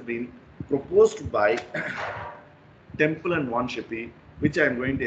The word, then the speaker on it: Von Schlippe: Temple and Wanshippe. So pronounce the name very carefully, right? On L-I is soundless, Wanshippe, Temple and Wanshippe model.